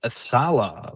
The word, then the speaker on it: Saleh: Tennessee Titans sign Robert Saleh, former Jets head coach and two-time 49ers defensive coordinator.